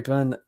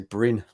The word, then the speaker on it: Byrne: Barry Byrne? Barry Byrne. I was going to say Bryn, like Gavin and Stacey, but no, I know it's definitely wrong.